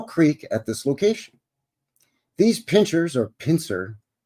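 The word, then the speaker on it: Pincher Creek: at this location these Pinchers or pincer it's spelled pincers here but the town is spelled pincher because that's how it's pronounced Pinter Creek but anyway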